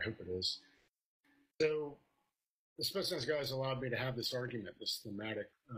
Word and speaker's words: Spetsnaz: Speaking of the, I'm gonna butcher it, the Spetsnaz? Is that how you say it? Spetsnaz. Pretty close. Spetsnaz. What motivated you to bring them into the fold later?